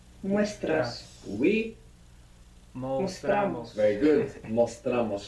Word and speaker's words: mostramos: Mostramos. You're not accenting anymore the O, so it doesn't split.